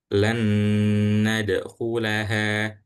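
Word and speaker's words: لن ندخلها: Lan nadkulaha. Lan nadkulaha. Jadi langsung setelah huruf lam langsung masuk ke huruf nun yang kedua dan dibacanya dengung atau ditahan sebentar.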